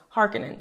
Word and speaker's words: Harkonnen: baron harkenen okay so when i first watched the 1984 version they said harkonnen but then in the 2021 version they say harkenin and so i had to look up what the correct pronunciation was and apparently frank's initial pronunciation was harkening so hopefully that's what